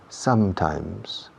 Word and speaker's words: sometimes: Dos M's, y en las dos M's se cierra la boca. Sometimes.